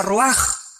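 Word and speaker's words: רוּחַ: Se pronuncia roaj.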